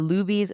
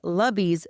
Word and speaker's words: Luby's: Patreon episode covering the Luby's massacre, which I originally recorded nearly 3 years ago. Unfortunately, I realized after it was published that I mispronounced Luby's, calling it Lubby's throughout the entire episode.